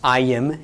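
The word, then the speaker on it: ־ַיִם: the regular plural, but it's pronounced ayim instead of im.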